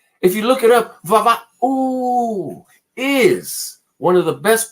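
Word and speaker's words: Vava'u: If you do a Google search, look up Vava-oo. Yes, let's spell it. One more time. Vava-oo. Va-ooh. And it's spelled V-A apostrophe.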